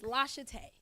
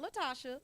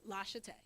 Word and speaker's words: Lashate: My name is Lashate. You know how many times I gotta fight to tell people to say my name right? Not Latasha, Lashate.